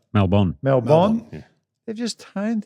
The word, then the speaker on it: Melbourne: How do you say that? It's not Melbourne. It's Melbourne. Melbourne.